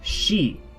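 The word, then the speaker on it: し: is different in Japanese we don't say see we don't have that it is pronounced she soo say so Sachi soo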